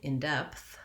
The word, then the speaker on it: in depth: in the intonation so in the phrase in depth i want to have my stress on the word depth uh the in is unstressed and unimportant in my sentence so if i look at something in depth i want to hear that it's short long in depth and i'm marking that